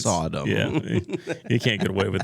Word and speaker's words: Sodom: great I know it's I know someone who pronounces Sodom as Saddam Sadam that's so weird Saddam and gamar no no it's Sodom you can't get away with that all right